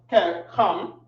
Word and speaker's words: Ham: Or they'll say the land of Ham, which is pronounced Kam.